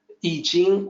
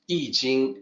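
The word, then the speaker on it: Yijing: So in that system, it is I Jing. It looks like the way it sounds. So it's much easier for people to pronounce it correctly.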